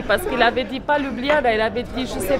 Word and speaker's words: Ljubljana: Santé à Ljubljana. Donc voilà, je connaissais pas le nom de la ville, merci Monique. Comment tu l'as prononcé? Ljubljana.